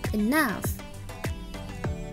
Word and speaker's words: enough: cukup membingungkan ya teman-teman tulisannya begini tapi cara membacanya bukan begini cara membaca kata ini adalah enough enough contoh making singkrist Magic